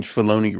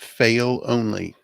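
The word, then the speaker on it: Filoni: other I get that you're pronouncing filon wrong it's called It's pronounced fail only oh right our only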